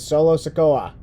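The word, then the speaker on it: Solo Sikoa: the challengers include grayson waller santos escobar and solo sakoa did i say that right yeah you said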